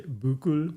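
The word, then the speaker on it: buccal: this is deeply controversial it's the buckle cheek Buckle the cheek that's what she says too yeah Buckle some people say buul who says b b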